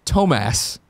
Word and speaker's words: Thomas: Thomas, pronounced Tomas, parentheses, greedy ears, wrote